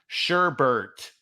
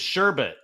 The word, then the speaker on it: sherbet: that first verse is that sherbert is the rhyme which which of course is is a common mispronunciation of of that word which is sherbet that's the thing that